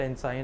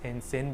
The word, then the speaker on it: ensign: new naval and sin it's not enzyme i checked the pronunciation on google so it's in sin basically uh if you